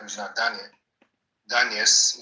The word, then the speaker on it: Regina Daniels: If Regina Daniel is my daughter, or if I have a daughter like Regina Daniels, that's the right pronunciation, it's not a problem.